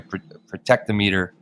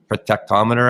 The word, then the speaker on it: Protectometer: I was digging into this uh protectometer I guess is probably the proper way to say it but yeah please I love this well I think you guys in North America I think you'd be inclined to say prot armer is that right yeah